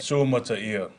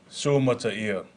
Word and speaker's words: Suamataia: Then, the second-round pick Kingsley Suamataia let everyone know how to properly pronounce his name when asked about it. Suamataia, Suamataia, Suamataia.